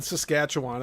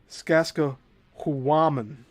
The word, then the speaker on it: Sacsahuamán: Oh, I said Sacsayhuamán. It's not Sacsayhuamán. I'm sorry. Stones of the various courses of the fort at Sacsahuamán Tower, 12 feet high.